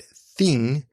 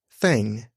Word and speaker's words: thing: I've been working on every time I say the word thing I intentionally in my mind tried to say it thing instead of fang and I catch myself